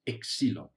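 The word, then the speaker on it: ξύλον: is the other word the other word is pronounced excelon so we still use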